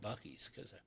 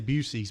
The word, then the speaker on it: Buc-ee's: Buc-ee's, Yes. yeah. I always want to say Busey's because that's what my buddy Scott says.